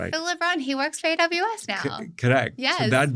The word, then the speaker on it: Libin: by Phil Libin, if I'm pronouncing his name right. Libin, he works for AWS now.